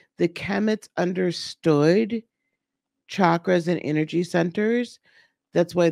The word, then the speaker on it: chakra: you notice I'm pronouncing chakra as chakra because it's the C is like a CH as in church right so it's not